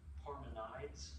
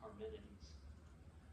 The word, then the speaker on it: Parmenides: I know they sound like really fancy names, but I know it looks like Parmenides, but it's the way it's pronounced in Greek is Parmenides.